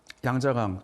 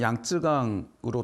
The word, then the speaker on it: 양쯔강: 위해서 군대를 일으키게 됩니다 우리나라 사람들한테는 양자강 중국어 발음으로 양쯔강으로 더 잘 알려진 장강에는 크게 새 세력이